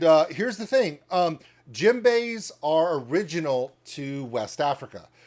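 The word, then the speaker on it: djembe: love with it now jimbe is spelled with a d DJ MB the D is silent and uh here's the thing um Jim Bay are original to West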